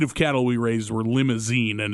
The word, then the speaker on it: Limousin: cattle we raised were limousine and it's spelled differently than the car but it's pronounced the same and i remember my